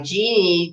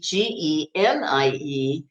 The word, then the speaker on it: Jeannie: And it's spelled Jeannie, but she went by Genie, Genie, like the genie in the bottle.